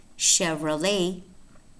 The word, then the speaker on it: Chevrolet: So they are spelled CH, but remember that some words, a small number, but important to know, are not pronounced ch, but sh. And these words are exactly words that exemplify that exception, namely chef, Chevrolet, and Chicago, pronounced sh.